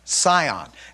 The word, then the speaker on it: scion: This is what we refer to it as, pronounced scion.